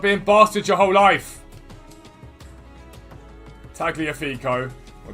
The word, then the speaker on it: Tagliafico: Tagliafico. Or Tagliafico, some people say it is. Because they pronounce the G, apparently.